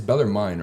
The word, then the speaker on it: Bellarmine: It's Bellarmine, right? That's how Yes, you, that's how you pronounce it. Bellarmine.